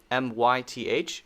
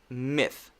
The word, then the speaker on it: myth: myth miss myth myth notice i'm not bringing my voice into the th sound i'm not saying myth